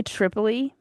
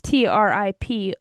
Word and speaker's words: Tripolje: I want to say Tripoli, that's where the victory is, but I'm going to spell it because that is not how you say it. It is Tripolje.